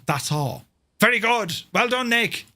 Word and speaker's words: Dassault: Dassault is pronounced that's all.